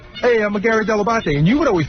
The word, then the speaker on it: Dell'Abate: I don't remember specifically day one, but I know I got the pronunciation Dell'Abate from you. I said that is the proper way to pronounce it, but nobody.